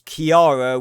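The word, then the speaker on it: Chiara: a r a is pronounced as Kiara with a K but as for her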